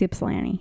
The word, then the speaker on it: Ypsilanti: How do you pronounce that? Ypsilanti. Ypsilanti. It's Ypsilanti.